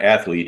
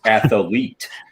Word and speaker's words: athlete: two players he is one of those three syllable guys not it's not athlete it's athlete you know that's only